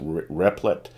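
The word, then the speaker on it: Replit: in uh a the I guess that's pronounced replet r-e-p-l-i-t uh this is a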